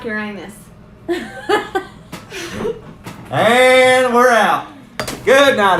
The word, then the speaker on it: Uranus: I like Uranus.